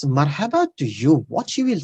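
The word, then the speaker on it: مرحبا: Now, if you see marhaba, I have put here apostrophe because while pronouncing marhaba, especially non-Arab people, the people who are residing in India and Bangladesh and this Asia part, what they do, they just pronounce it marhaba, R-H-A-Rah, marhaba, marhaba, marhaba. No, that's an improper, incorrect way to pronounce.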